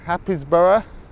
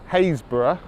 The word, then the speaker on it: Happisburgh: a double P is bu RG h Happisburgh happies borough nope Hays borough get that don't ask me why and I'm